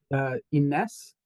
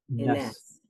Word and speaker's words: Ines: It's Ines with the emphasis on the last syllables. Ines.